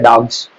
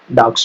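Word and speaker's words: dogs: Pronunciation भी आपको मैं बताऊंगा, इसको पढ़ा जाता है डॉग्स, है ना। लेकिन नॉर्मल हमारे बिहार साइड में या बहुत से लोग इसको डॉग्स पढ़ते हैं, है ना, होता है डॉग्स।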